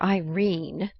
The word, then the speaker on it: Irene: edith wharton a coward my daughter irene said mrs carr style she made it rhyme with turin has had no social